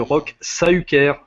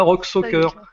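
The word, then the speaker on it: Roch Saüquere: Il a dit Monsieur Rock Sahuker. Eh oui, ça se prononce pas Rock Soccer. Le U tréma ou le I tréma, ça se détache.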